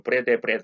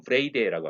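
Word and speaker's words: Wrede: 1901년 아주 천재적인 성서학자 윌리엄 브레이데가 우리말로 브레데 이렇게 번역을 했는 말은 정확한 발음은 윌리엄 브레이데라고 합니다. 윌리엄 브레이데가 메시아 비밀, 메시아닉 시크릿이라고 하는 하나의 학설을 창안에서 주창했습니다.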